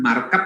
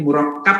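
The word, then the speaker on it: مُرَكَّب: Bukan markab arti kendaraan. Mobilnya Satadian merah. Jual berarti. Enggak lah, bukan markab, bacanya murakkab.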